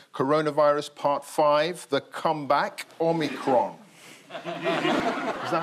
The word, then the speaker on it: omicron: part five the comeback omicron is that how you say it yeah well the bbc pronunciation unit says it's omicron mary beard classic scholar of course says it should be omicron that's mary bjorn some